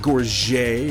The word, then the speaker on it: gorget: Gorget is one that I stand by because the word was anglicized well over 500 years ago. And whether it was originally pronounced in French with a soft T or not, it doesn't matter because gorget is an English word that means something now.